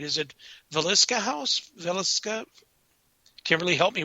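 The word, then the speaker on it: Villisca: Is it Velisca House? Velisca? Kimberly, help me with that word. Yeah, the Valeska house. Valeska house.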